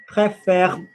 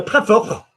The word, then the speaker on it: préfère: Préférer, préfère. Imagine that you get rid of the last syllable. So préfère is Klingon.